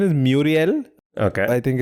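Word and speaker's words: Murielle: But I think the pronunciation is Muriel. Okay. I think it's, Muriel, like Chandler Bing's middle name.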